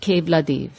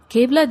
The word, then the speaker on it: Keoladeo: o l a d e o but is pronounced Kad Kad refers to Lord Shiva who is woried in